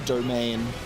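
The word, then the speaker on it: demesne: So, we we I know, but I always pronounce it demense. I don't know cuz it's just like it's hard. I read it that way, but I know what it the word means, if that makes sense. But thanks for telling me that they're pronounced the same. Actually, I didn't know that. I'll say domain.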